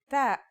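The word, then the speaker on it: ث: our final letter is that's like the th in the English word Thief pretty easy right that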